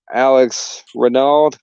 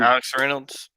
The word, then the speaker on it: Alex Reynolds: is made up of alex renault is that how you say his name alex reynolds reynolds okay i didn't know how